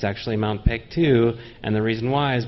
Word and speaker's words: Paektu: Mount Paektu. Paektu. You have to pronounce it like that. They always have this sing-songy thing.